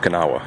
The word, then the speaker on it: Kanawha: And yes, that's how it's pronounced. Kanawha.